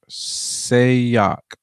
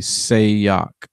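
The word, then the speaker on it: Sayoc: sock saves our sock sock say yok I'm gonna just say it phonetically say yok SSA yoc I believe um so you know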